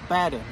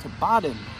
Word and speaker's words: Baden: it's not pronounced um it's not pronounced batter excuse me it's pronounced tibatin um like b-a-h-d-e-n uh So ba like a sheep so anyway I'm gonna